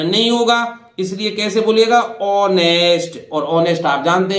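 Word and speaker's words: honest: है, इस ओ के कारण इस एच का उच्चारण नहीं होगा, इसलिए कैसे बोलिएगा, ऑनेस्ट, और ऑनेस्ट आप जानते हैं ईमानदार।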